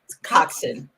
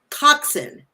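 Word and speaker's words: coxswain: rowers and now it's it's how do you pronounce it it's Cox coxin coxin okay so it's a rope a robe a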